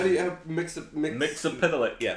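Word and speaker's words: Mxyzptlk: That's like the only way that I learned how to actually pronounce the name. How do you have Mixapitalik? Yeah. Mixapitalik.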